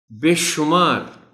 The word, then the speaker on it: بے شمار: خاص توجہ چاہیں گے۔ بے شمار شین پر پیش کا خیال رکھا جانا چاہیے. بے شمار نعمتوں، یہ لفظ